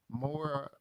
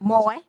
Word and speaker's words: Moye: The VA clinic is at 401 Moore, I think I pronounced that right. Moye, M-O-Y-E. Moye Boulevard in Greenville.